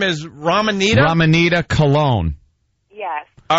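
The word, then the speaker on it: Colon: Well, my last name's Cologne, but it's spelled C-O-L-O-N.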